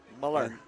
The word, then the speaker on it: Muller: Um Sam Sam Muller is correct the correct pronunciation according to correct in in according to coach Porter, Muller.